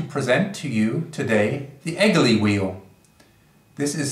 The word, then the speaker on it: Egely: would like to present to you today the eglee wheel this is spelled eg e L Y it is a